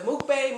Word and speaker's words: mukbang: This is our first, is it mukbang, mukbang? How you say it? I think it's muck.